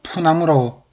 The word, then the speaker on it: 푸나무: 리을이 생략되는 현상입니다. 그래서 솔나무가 소나무가 되듯이 풀과 나무는 푸나무라고 발음이 됐습니다.